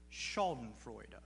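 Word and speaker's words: Schadenfreude: the word is pronounced shaen frea it's a German word it refers to that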